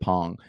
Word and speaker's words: Pang: Alex Pang, Pang. I believe he pronounces it Pong.